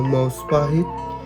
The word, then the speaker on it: Maospahit: Majapahit karena percepatan pengucapan sebetulnya Majapahit.